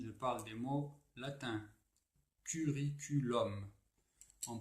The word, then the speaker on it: curriculum: Alors, les mots latins qui se terminent en UM se prononcent avec un O ouvert, comme O.